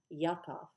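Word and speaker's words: יעקב: It was actually Jacob, or as the Hebrews pronounced it originally, Yaakov.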